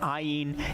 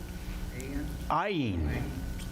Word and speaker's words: Ayin: You might remember the ayin is what? What sound does it make? Silent, right?